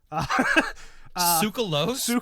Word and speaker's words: Tsoukalos: Tsoukalos, by the way. If you're gonna say an absolute legend's name, say it right. All right. Giorgio Tsoukalos.